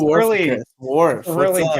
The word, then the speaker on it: Warficus: Okay, And, True it's Warficus.